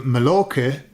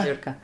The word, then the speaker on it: Mallorca: So when in the UK, when I was a kid, people would either go to Mallorca or they would go to Majorca, okay? And that was, Oh, because you spell it with a J, don't you?